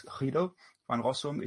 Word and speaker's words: Guido van Rossum: Guido van Rossum, or probably if you pronounce it Dutch, it's Guido van Rossum.